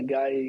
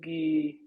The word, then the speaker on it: Guy: i'm here and yeah guy guy is how you pronounce it so that's uh that's